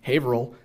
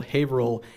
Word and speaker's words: Haverhill: the colonial period that our modern Massachusetts pronunciation usually matches almost exactly the colonial spelling. So I've said, I also work in Haverhill at the Buttonwoods Museum, and colonial maps will usually spell Haverhill H-A-V-E-R-I-L, without the hill.